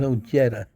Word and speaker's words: Ojeda: He even says his name is Ojeda. So why do you insist on saying it wrong?